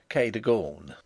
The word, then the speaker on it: Cadogan: Improbable as it may appear, my housekeeper was called Cadogan, a name made locally possible by being pronounced Cadogan.